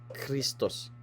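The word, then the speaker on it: Χριστός: So kapa kasi pagbabasahin mo parang kristos kristos kung ba key and then ah raw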